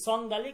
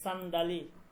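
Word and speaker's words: صندلی: সব সিনের উচ্চারণ হবে সব সিনের উচ্চারণ হবে সন্দালি না সান্ডালি সান্দালি সান্দাালি ওকে আর কোনো প্রশ্ন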